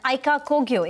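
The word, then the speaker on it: Aica Kogyo: sources say a deal between Stylum Industries and Aika Kogyo is back on the table. Yash joins in with the details. Yash, am I pronouncing it correct?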